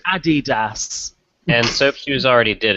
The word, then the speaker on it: Adidas: a New Balance soy or soap shoes it's pronounced Adidas and soap shoes already did it so they